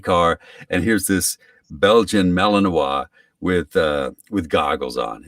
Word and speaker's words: Malinois: i i pronounced it malinois apparently it's malinois like mayonnaise or something i keep going so